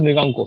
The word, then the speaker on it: Mriganka: This is pronounced as Mriganko, sir.